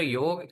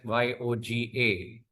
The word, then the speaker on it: yog: It is neither yog is neither yoga. When we write the word yoga in English we write it as y o g a.